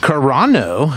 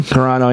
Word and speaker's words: Carano: know right uh speaking of hips uh Gina corano is that how you say her name Carano yeah is suing Disney and Lucas film for